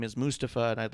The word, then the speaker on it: Mustafa: Mustafa it's not Clump actually he's made it very clear on a number of of videos on social mediaa that Mustafa is how it's pronounced and the reason he